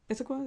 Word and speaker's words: Issaquah: Issaquah, is that Yes. correct Yes. Yes.